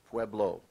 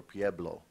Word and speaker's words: Pueblo: This word has at least two accepted pronunciations. Pueblo, or Pueblo.